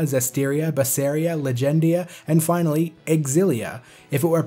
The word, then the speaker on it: Xillia: it's pronounced tales of Xillia yes you do pronounce the X as X and not Z as you would if it were an ordinary English word like xylophone before I had this